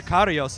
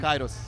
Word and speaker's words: Kairos: the Karios album from Sepultura. Yes. If I pronounced that right. Yeah, Um, Kairos.